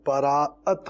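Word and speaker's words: شب براءت: دیکھیں اس کا صحیح تلفظ بھلے شب براعت ہو، برات، لیکن جو بچے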